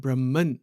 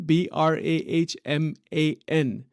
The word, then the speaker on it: Brahman: Consciousness that is called Brahman so if you're keeping track of the terminology the word Brahman b r a h m a n Brahma or Brahman you can pronounce it either way uh and it is